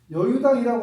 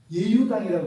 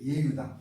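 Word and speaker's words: 與猶堂: 여유당인데 여유당이라고 하면 잘못 읽은 거예요. 예유당이라고 읽어야 돼요. 예유당. 이걸 예라고 읽어요. 예유당이에요.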